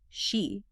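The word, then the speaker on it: sídhe: Ancient burial mounds, certain hills, they called them seed mounds, pronounced she.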